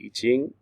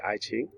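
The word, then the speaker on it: I Ching: chinese history and literature including the iching or sometimes uh in english mispronounced as the aichi right uh the the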